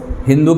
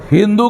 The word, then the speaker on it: हिंदू: नहीं कर पाते थे, स का उच्चारण ह करते थे। तो सिंधु का उच्चारण ह हिंदू कर दिया।